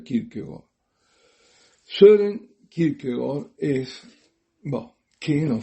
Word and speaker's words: Kierkegaard: Tengo que hacer un pequeño desvío, un excursus, para decir quién es Kierkegaard, que lo verán escrito como Kierkegaard, Kierkegaard, con K las 2 veces, pero se pronuncia Kierkegaard.